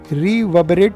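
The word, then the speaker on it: reverberate: betting इन Sohan head रिव बरेट यानी गूंजना यहां पर जो दूसरा आर है वह साइलेंट है अक्सर प्यार में में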